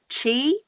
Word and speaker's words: Qi: and the why qi what's that so it's pronounced chi and it's basically it means energy it means